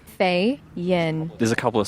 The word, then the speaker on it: Feyen: I think you say Feyen is how you're supposed to pronounce her surname. People struggle with it, but it's just 5 Jennie letters. Feyen.